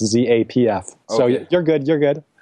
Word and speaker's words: Zapf: in the majority yeah it's pronounced just like Za FF even though it's pronounced Zapf so you're good you're